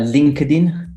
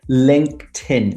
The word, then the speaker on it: LinkedIn: can think of is a lot of people say uh linkedin which drives me crazy yeah you're right it should be linkedin with a t sound like table if you think about it as link tin and you put it together it makes much more sense linkedin linkedin linkedin um